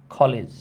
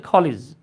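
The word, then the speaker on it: college: in front of দা কলিজ এবার আপনাদের পালা আপনারা মার্ক করবেন এই খলিসটা কোন পার্টস অফ স্পিচ এই খলিজটা কোন পার্ট অফ স্পিচ আমরা কলেজ বলি আর কি উচ্চারণ হচ্ছে খলিজ ধন্যবাদ আচ্ছা আচ্ছা আমাকে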